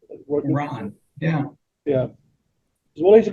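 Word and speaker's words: Rahn: r a hn is how his name is pronounced Ron yeah yeah well he's a comedian I said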